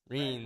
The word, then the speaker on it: Reims: Reims. Reims.